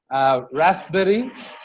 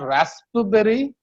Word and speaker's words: raspberry: Raspberry. It's not raspberry. It's raspberry. Okay, on the first day we actually did R in detail.